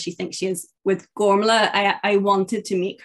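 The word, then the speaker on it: Gormflaith: again because i am going to butcher it gormla okay that that's not how i would have pronounced it but everyone pronounces it but that's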